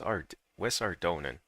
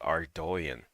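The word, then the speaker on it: Ardougne: West Ardonan. I'm going to pronounce it Ardonan. I can't I just can't pronounce it like the proper way to pronounce RD guys is actually Ardoan, but that just sounds weird to me.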